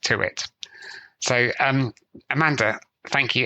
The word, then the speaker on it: Tuite: then her last name is spelled Tui pronounced to it so um Amanda thank you ever so much